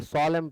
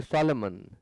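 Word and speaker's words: solemn: important चीज कभी भी जब फाइनल एम और एन आपको दिखाई पड़े फाइनल पोजीशन वर्ड के लास्ट में आपको एम के साथ एन दिखाई पड़े तो आप एन का प्रोनंसिएशन ना करें एन हमेशा साइलेंट होता है नहीं पढ़ना है इसे आप इसे सोलम पढ़ेंगे सोलम ऐसा नहीं कि सॉलमन या सॉलमन कुछ नहीं गलत होगा तो ग्रेव फॉर्म देबल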